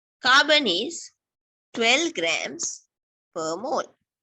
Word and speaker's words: mole: Mole, like mole, you pronounce it mole, but the unit is MOL.